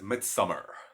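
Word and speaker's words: Midsommar: Um, Movie number two is Midsummer. Now, Midsummer is not spelled midsummer. It's spelled Midsomar.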